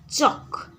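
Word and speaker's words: chalk: सेपरि चक चक रे पिला माने देख एल हेउछि तुमरो साइलेंट लेटर आमे चल्क पढ़िबा कि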